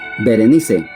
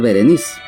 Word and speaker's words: Berenice: Berenice. Este nombre también en el idioma español se puede pronunciar Vereniz, pero eh su raíz